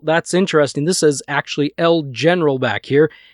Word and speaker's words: El General: It's not El Generale, I think is how you pronounce it, but El General, and a little bit about that title, that person.